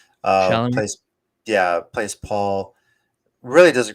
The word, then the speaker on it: Chalamet: The Timothy Chalamet, is that how you pronounce his last name? Chalamet.